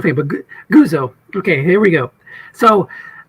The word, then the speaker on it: Guzzo: Guzzo, right? Is the right way? Guzzo.